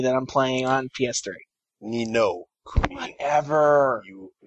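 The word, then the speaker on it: Ni no Kuni: Nina Kuni that I'm playing on PS3. Nino Kuni.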